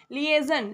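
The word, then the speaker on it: liaison: Next next है लियेजन। लियजन का होता है संपर्क। इसकी स्पेलिंग याद रखिएगा।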